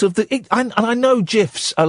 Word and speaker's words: GIF: could be part of the and I know gifs are like so 2005 but um oh it